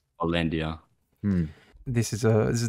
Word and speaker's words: Hollandia: I picked a beer which is called actually pronounce this hollandia hollandia this is a this is definitely a Max